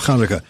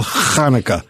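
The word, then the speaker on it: Chanukah: how do you spell Kaneka? You don't spell it with an H. It's got to be ch cuz but you don't have that guttural sound in English.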